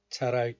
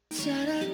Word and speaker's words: 잘할: 있을 때 잘할 걸 그랬어. 있을 때 잘할 걸 그랬어. Let's watch the video first. This part. 있을 때 잘할 걸 잘할 걸.